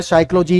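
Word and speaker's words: psychology: जैसे शब्द है साइकोलॉजी, इसमें क्या साइलेंट है, पी है।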